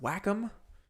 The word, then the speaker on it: Wacom: it is a uh a i think it's pronounced wacom w-a-c-o-m they're like the biggest in the industry